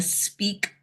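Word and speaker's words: SPEAAK: that I call the speak method. Now, it's spelled S P E A A K. And yes, I can spell. But that's what this that's the speak method.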